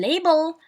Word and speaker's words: label: But in label open stress is on the first syllable. علاش stress in the first syllable? Why? Because the second syllable contains a schwa, same as the examples above with the other cases.